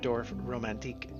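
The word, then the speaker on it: Dorfromantik: a little game uh here's DWF romantic or dorf romantique uh I think would be closer to the uh Native pronunciation um if you've never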